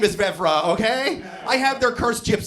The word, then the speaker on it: Vevera: I want about them a lot of people pronounce my last name Vera it's not cuz they're dumb it's cuz my stupid Gypsy ancestors put an extra e in the name for some reason so